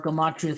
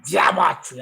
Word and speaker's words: Gematria: You got to pronounce Gematria correctly. It's Gematria, not Gematria.